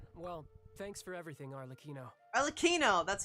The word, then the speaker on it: Arlecchino: Arlecchino!